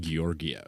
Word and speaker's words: Georgiev: It's it's also it's pronounced Gorgiev.